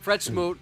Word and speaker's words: Fred Smoot: Fred Smoot.